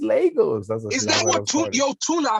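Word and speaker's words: Lagos: we're just talking about the correct pronunciation if it was Legos or losos yeah actually it's losos cuz it's a Portuguese word that's what that's what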